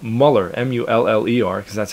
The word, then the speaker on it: Mueller: It became too complicated with the umlauts, and no one pronounced it Mueller. They pronounced it Muller.